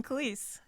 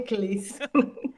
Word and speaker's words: Khalees: And I'm Khalees. Hey, Khalees. Now I know how to pronounce your name. So Yeah. Like milkshakes, but a little closer to generally phonetically correct.